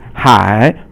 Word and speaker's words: 海: And then the next character is 海, or it's third tone, and it means the ocean. For example, 大海, da is fourth tone, and 海 is third tone, and so that means the big sea, which means the ocean.